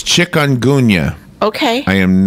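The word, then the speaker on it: chikungunya: have the pronunciation okay it's got nothing to do with chickens oh but it's chick onun okay I am not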